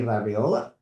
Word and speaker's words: LaBriola: Welcome back to the consult and commentary podcast and today we have a fantastic guest, Labriola. Did I pronounce it correctly?